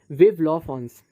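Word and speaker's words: Vive la France: Sentence लिखा अपने उसमें, वो था विव ला फ्रांस, जिसे हम प्रोनाउंस करते हैं विव ला फ्रांस, ठीक है।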